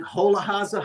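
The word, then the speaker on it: Hollóháza: Hola porcelain uh produced by uh the in Holahaza, Hungary.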